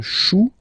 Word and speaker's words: chou: Then, un chou, okay, remember, when you combine this C and H, you get the sound sh. Chou, un chou, pluriel, des choux.